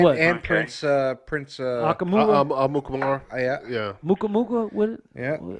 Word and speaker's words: Amukamara: Amukamara. yeah. Muka? What? Yeah. How you pronounce that name, AC? Amukamara.